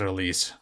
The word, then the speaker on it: Elise: And yes, I checked the heroes, they pronounce it Elise.